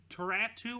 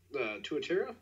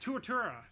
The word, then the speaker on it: tuatara: So hey Devin, do you know what the it's pretty hard to pronounce, like Taratu or something, the really rare New Zealand lizard? Tuatara? Yes, Tuatara. Yes.